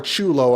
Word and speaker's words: Chulo: 6-year-old Giovani Chulo Jennings it's either kulo or Chulo I think it's Chulo